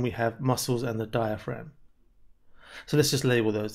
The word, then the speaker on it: diaphragm: described is the diaphragm be careful of the spelling of that it's got a silent g near the end diaphragm we're going to look